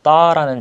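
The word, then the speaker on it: ط: 이 따라는 자음은 발음을 할 때 그냥 따가 아니라 우리가 앞 시간에 third와 third를 발음할 때 혀를 밑으로 내리고 입안에 공간을 크게 만들어준 상태에서 발음을 해야 한다고 했는데 이 따 역시 혀를 밑으로 내리고 입에 공간을 만들어준 다음에 따 이렇게 발음을 하시면 되겠습니다. 그래서 음가는 T가 있고 밑에 점을 하나 이렇게 찍어줍니다.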